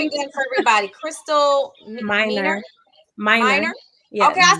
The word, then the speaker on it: Miner: say your name again for everybody Crystal Min minor okay I said it right okay good I